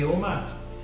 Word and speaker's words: Oma: My Oma? Oma. Oma, like an old man.